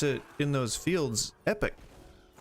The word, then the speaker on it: epoch: about epochs, they're pronounced epoch in this game. Like, I think they pronounce it in those fields epic. I think it's pronounced like epic, like the word epic, but just E-P-O-C-H.